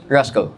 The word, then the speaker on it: Roscoe: Is it Rusco or Rusco? Roscoe. Rusco. But yeah, my name's Roscoe, but I get my name misspelled a lot, mispronounced a lot, so I it's see.